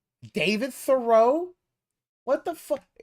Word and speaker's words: Thoreau: And Thoreau? David Thoreau? What the fuck? Thoreau, like, what is it with him and enunciating and putting the emphasis on the wrong syllables?